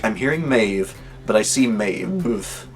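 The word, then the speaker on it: Maebh: the captions on and I saw Ma's name spelled m AE BH and I'm seeing it's spelled that way and hearing the name mave which I've seen spelled m AE V here in the US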